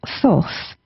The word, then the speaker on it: Thoth: Now, Thoth, that's how I pronounce it. Some people may um pronounce it slightly different, but he is the Egyptian god of magic and manifestations.